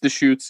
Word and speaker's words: Deschutes: can help me out it's the dish shoots the shoots yep yeah deschutes brewery i